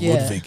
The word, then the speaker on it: Ludwig: Yes, because I was trying to get the pronunciation of Ludwig. It's Ludwig. Ludwig.